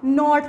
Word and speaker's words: knot: हम last blank में ये वर्ड है नोट, के की साउंड नहीं आएगी, के साइलेंट होगा, नोट वर्ड है।